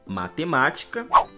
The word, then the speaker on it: matemática: nas palavras médico, hóspede, matemática, árbitro, clínico e hipopótamo. Percebam que nessas palavras nós pronunciamos a antepenúltima sílaba com mais intensidade, pois nós falamos da seguinte maneira. Médico, hóspede, matemática, árbitro, clínico, hipopótamo.